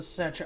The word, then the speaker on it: Cetra: The Cetra.